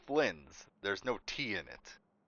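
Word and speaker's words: Flins: I'm hearing wrong, but it sounds like they're calling Flynn's as Flints, like with a T, but there's no T in how his name is spelled. So, am I hearing that wrong, or is is it like an auditory hallucination? I keep hearing flints, like, you know, like fire flint. But it's Flynn's.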